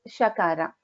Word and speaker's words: Shakara: Talavya, the other one Murdhanya is Sha. Okay. So like I said in the previous example, Shiva, here we use, it is Shakara. So in Shanmukha, it is Sha.